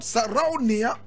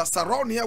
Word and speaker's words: Sarraounia: Now, today we are talking about Sarraounia, Mangou. Sarraounia, Mangou. Now, those of you who speak Hausa, Sarraounia will not be a big term for you. Sarraounia simply means a female chief.